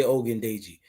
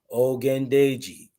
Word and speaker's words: Ogundeji: Ogundeji. Everybody can say Ogundeji. Come on, say with me at home. Ogundeji. Yeah, but beat that G, that gun, like Ogundeji.